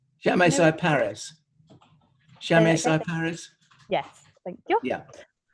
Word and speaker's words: Chamaecyparis: It's the creepy one, and I want to say it's Chamaparis. Chamaecyparis. Chamaecyparis? Yes, thank you. Yeah. You can, of course, be very posh and say Chamaecyparis with a silent H.